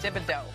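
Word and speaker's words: Thibodaux: d a u wait is that how you spell it yes dibido okay guess what it gets better ken's 23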